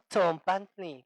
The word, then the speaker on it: tzompantli: más que acá la tenemos en palabras como tzompantli. ¿Saben qué es un tzompantli? ¿No? Ajá, el muro de cráneos, ¿no? El que podemos ver allá en el Museo del Templo Mayor, ¿no? Tzompantli, que empieza con ese sonido, tzompantli.